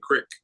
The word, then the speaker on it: creek: a little Pennsylvania me I say Crick they're like spell that c r i c k no it's Creek I mean that's like